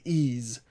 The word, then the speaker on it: Ys: I've heard it's pronounced Ease. I'll say Ease.